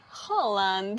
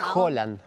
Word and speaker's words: Haaland: Pero es Holland. ¿Por qué? Porque la letra esa en noruego se pronuncia como una O. Claro. O sea, la A que tiene dos puntitos arriba se pronuncia como una O.